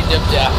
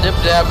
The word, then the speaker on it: Dip Dap: The name of the episode is Dip Dap is worth it. Dip Dap? Dip Dap was worth it. Dip Dap. Dip, like, spelled like 70%. Cheese dip. Yeah. And Dap, like, dapper. Like D-A-P.